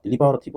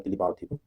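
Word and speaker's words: deliberative: 딜리버러 딜리버러티 그냥 딜리버 딜리버 발음으로 구별하셔도 되고 그냥 여기가 딜리 딜리버러티브 할 거냐 딜리바로티브 요즘에 영국식 발음도 많이 하니까 딜리바로티브 이게 되게 신중한 거죠 신중하고 신중하게 또 되게 수고하고 그런 뜻입니다.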